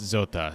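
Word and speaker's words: Zote: everyone in check also i don't know if it's pronounced zot or zota but the one time we get to hear anyone say his name it's pronounced zota so be nice to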